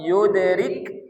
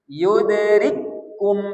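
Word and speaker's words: يُدْرِكْكُمْ: Seharusnya kita baca yudrik rikum kan rikum seharusnya kan gitu rikum. Tapi karena itu pertemuan dua huruf, hurufnya sama, maka kap kedua tak dibaca lagi, tapi sudah dimasukkan ke kap eh kap pertama tak dibaca, dimasukkan ke kap kedua, maka dikasih tanda tasdid. Yudrikum 1 2 3 jadi jangan dibaca lagi yudrik. Nah, jangan ada riknya lagi tapi langsung yudrikum. Oke, sama-sama lagi.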